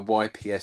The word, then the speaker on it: Yps: I always thought they were initials, but the Germans simply pronounce it and I've got this written down, Yps.